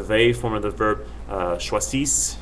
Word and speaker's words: choisissent: And then the il, elle for the they form of the verb, choisissent, you just pronounce it up until the other two S's, and then you kind of stop.